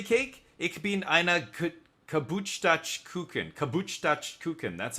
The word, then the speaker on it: Geburtstagskuchen: Geburtstagskuchen, that's how you say it.